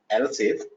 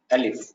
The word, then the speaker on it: elif: elif It's actually we call it we pronounce it as else if, but it is actually elif in while when we write it should be elif.